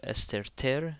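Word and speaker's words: ⲥⲑⲉⲣⲧⲉⲣ: So esterter, again the theta is pronounced like a T.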